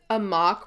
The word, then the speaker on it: Amok: a time you're right maybe because a mock rhymes with Spock that's what I think